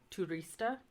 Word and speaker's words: turista: you have like statura I is the double e in feet so like uh turista and then you have